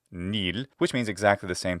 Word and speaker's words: nil: But then we'd write it N-I with a long mark L. Nil, which means exactly the same thing as nihil, nothing.